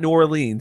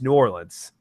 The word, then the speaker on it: New Orleans: be turn me is it's not New Orleans I know that is New Orleans it's yeah it's kind